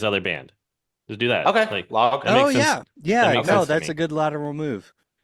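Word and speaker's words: Logh: Log. That's a good lateral move. I believe it's said log. It's L O G H.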